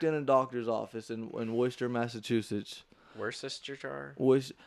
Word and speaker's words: Worcester: I walked in a doctor's office in Worcester, Massachusetts. Worcestershire? Most people call it Worcester. It's pronounced Worcester.